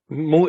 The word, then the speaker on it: Mo: say it like moo Mo yeah moo is my short name in Serbia so they always like call me moo moo moo moo and not moo like a cow like moo because but something like this but yeah uh